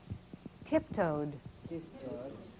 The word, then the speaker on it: tiptoed: one tip tipto stretched what's the difference there tiptoed stretched this is a d and this is a t a very interesting aspect